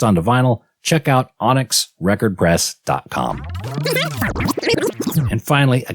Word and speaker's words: Onyx: guests here uh from Onyx record pressing I'm pronouncing that right is it Onyx Onyx okay all capitals o n YX yeah and